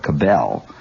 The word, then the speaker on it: Cabell: with james branch cobble some people call it cabell i think the correct pronunciation although i may be wrong is james branch cobble who wrote a book